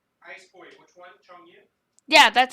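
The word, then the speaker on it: Chongyun: Chong Yu? Yeah, that's how you say it. Changyu.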